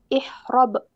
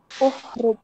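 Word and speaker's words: اهرب: ya coba haroba yahrubu ihrob bukan ihr gimana tadi ihrrub bukan yahrubuubu ikut harakat hamzahnya ikut Ain fi'ilnya berarti uh uhrub bukan ihrub ya tapi uhrub artinya kabur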